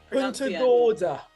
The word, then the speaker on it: Punta Gorda: Yeah, make sure you pronounce the N. Punta Gorda.